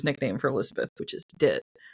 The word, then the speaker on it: Dit: for Elizabeth, which is Dit. Like Ditzy? Yeah, like Ditzy, D-I-T, Dit. It's basically because I think